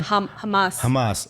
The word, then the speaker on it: Hamas: when the Gaza Strip, which is where the Hamas, how do you say it again? Hamas.